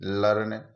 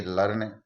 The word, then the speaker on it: learn: जैसे ई ए इस वर्ड में, एल ई ए आर N word में ई ए आ रहा है और ई ए के बाद में आर आ रहा है, आर के बाद में एक और कॉन्सोनेंट एन आ रहा है, तो हम इसकी ध्वनि लर्न यानी ई की ध्वनि ए निकालेंगे, ये लर्न उच्चारित होगा, इसको लर्न पढ़ेंगे।